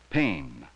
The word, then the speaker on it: pain: With some words you have to be careful, because there is another word that sounds just the same. Pain. But it is spelled differently.